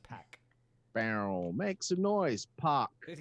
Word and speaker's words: PAC: if you listen to the i believe it's pack yeah it is pronounced pack barrel make some noise pop but um i